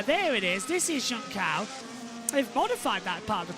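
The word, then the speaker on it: Junção: 1 for a long time and it is junal that is how you pronounce it as well not juncha or Jun it is Juna as in Jun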